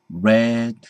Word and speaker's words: read: 왜냐면 이게 발음이 다르거든요. read, red, red.